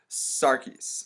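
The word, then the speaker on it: Psarakis: for Alyssa it is Vicki Sarkis or it's a silent P but you get the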